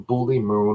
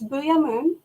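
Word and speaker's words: Boo'ya Moon: they freed her from bully moon or what do they call it the other name for it you are just like darla you're getting the name wrong it's booyah moon yes in the show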